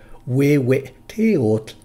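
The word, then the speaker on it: Huehueteotl: Examples occur in the two best-known names of the Aztec fire god, Wewe-teotl and Xiu-tegutli. Notice that the W's are spelled H-U in the first case because they start each syllable.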